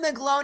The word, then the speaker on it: McGlone: Yeah, McGlone.